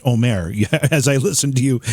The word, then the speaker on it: Omer: Mark, I think you must be the most polite person I've ever had on the program, because I've been saying Omer this whole time, and apparently it's pronounced Omer.